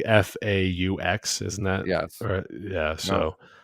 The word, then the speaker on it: Fawkes: Guy Fawkes, yeah. Fox. Isn't it like FAUX?